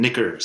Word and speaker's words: knickers: we should say that that's spelled with a k a silent k k n by the way go